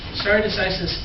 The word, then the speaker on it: stare decisis: Stare decisis, or I'm going to pronounce it like the lawyers pronounce it. Please don't follow my example with Latin class, but in the law, please follow my example.